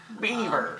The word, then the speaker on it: Belvoir: but it is from belvoir or properly pronounced as bieber beaver it is their cherry